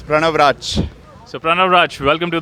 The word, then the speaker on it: Pranav Rachh: So Pranav, did I get the pronunciation right? Yeah, it's Pranav Raj.